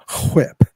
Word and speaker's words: whip: Whip. What on earth are you doing? You got to say the H in the word whip.